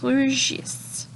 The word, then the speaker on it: rougissent: Les tomates vertes grossissent et rougissent. On ne prononce pas le ENT des verbes, donc grossissent, rougissent.